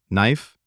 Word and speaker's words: knife: We talked about silent letters. Knife, no, rap, hour, Wednesday, comfortable. We talked about the th